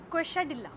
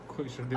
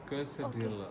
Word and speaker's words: Quesadilla: हाँ, तो अगर मैं बोलूँ कि इसे प्रोनाउंस कर दीजिए तो क्वेश्चडिल्ला। नहीं। एक और ट्राई मारो। Quesadilla. अगर फनी लैंग्वेज है इंग्लिश तो ये मैक्सिकन है। Quesadilla.